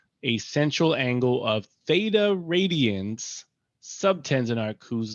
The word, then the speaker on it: theta: given by the formula s equals r times theta. So if you're wondering what I'm saying right now, this little symbol here is pronounced theta, and it represents an angle in degrees or radians.